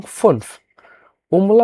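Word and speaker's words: fünf: সেক্ষেত্রে সে অনুযায়ী এখানে ভিটা হয়ে গেছে ফেয়ার ফরের মত উচ্চারণ হবে এবং ফনফমলা উঠের কারণে ঠোট গোল হবে ফনফ জ্যাক্স জ্যাক্স এস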